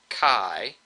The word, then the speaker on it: chi: like an X here this is actually a Greek letter Kai which we spell out Chi but we pronounce it Kai and um this is